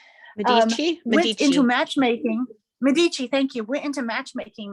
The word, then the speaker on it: Medici: de mis how do you say her name medici into matchmaking medici thank you went into matchmaking mode to find